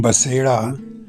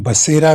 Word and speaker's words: बसेड़ा: दोस्तों, आप सबको मेरा यानी कर्नल बसेड़ा, जिसे हम बसेरा भी प्रोनाउंस करते हैं, का बहुत बहुत प्रणाम।